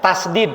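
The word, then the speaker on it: tasydid: Tasdid bukan tasjid ya. Kalau di kita mah tasjid jadinya. Tasdid.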